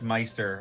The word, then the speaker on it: Meister: Also, my name is pronounced Meister, like my with a M-I instead of a G.